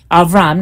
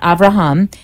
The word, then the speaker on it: Avram: and that is how it would have been pronounced in Hebrew. And that's how she starts out. It's Avram, Abraham, Avram, not Avraham, and Sarai, and they take off into the